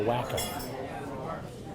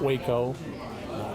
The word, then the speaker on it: Waco: So for family, it's always been the wacko and, um, not Waco, not Washington County. Ok. Got it. But here's another fun fact, many who grew up knowing the wacko, including family couldn't go inside serve beer here